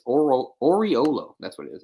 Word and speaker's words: Oriolo: uh don or or Oreo oriolo it's oral oriolo that's what it is it's Don Oriole oh